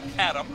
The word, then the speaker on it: ADAM: Which they pronounce as Adam.